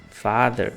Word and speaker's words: father: eu falei por exemplo se você for lá pras palavras Father mother brother ex a forma de pronunciar a mesma coisa mother Father brother é sempre a língua entre os dentes só que como eu